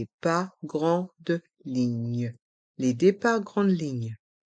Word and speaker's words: grande: son 1 train et dans le mot grande les lettres a et n font le son en grande le TGV train à